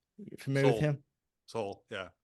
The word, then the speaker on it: Sowell: soul, yeah, How do you Thomas Sowell? That's how you say it? soul.